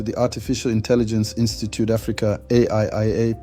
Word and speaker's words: AIIA: Welcome back to the Artificial Intelligence Institute Africa AIIA, pronounced Aiia, Ubuntu Guild's videos on AI.